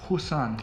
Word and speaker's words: Roussanne: Yeah, then you need to blend the two, the and the oo. Roussanne.